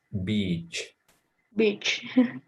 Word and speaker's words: beach: it's a very tricky word because how to pronounce it is beach beach what do you like to do